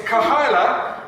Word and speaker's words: Kahaila: So let's just get this right from the beginning because everyone pronounces it wrong. So it's Kahaila, and it's a mix of two Hebrew words. So Kahaila without the A in the middle, okay, means community.